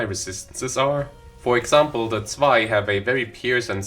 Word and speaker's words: Zwei: Anyway, we botch a heart surgery and move on to the Zwei fixers. Why do I say it like that? Es ist Zwei. Es ist Zwei. Spricht es korrekt aus, verdammt.